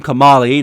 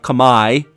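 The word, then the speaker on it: Komali: It seems you have helped my son Kam uh Kamali. That's how I think you're actually supposed to say his name. Kamali, not Kamay.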